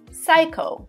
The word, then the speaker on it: psycho: that is my pseudonym p is also not pronounced when it comes as a first letter in words followed by consonant like psycho or psychology or pneumonia there was never any